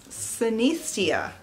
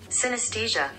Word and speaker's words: synesthesia: but she's experiencing Cynthia cenistia I need to look that up because I don't think I'm pronouncing it correctly synesthesia synesthesia yeah I was definitely saying that wrong she's she has what